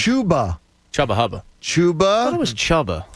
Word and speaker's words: Chuba: cream you know like chuba chubba hubba chuba was chubba it's chuba hubard going chba you positive chuba c h uba it's not Double B there's only one there's only one B this is Philadelphia like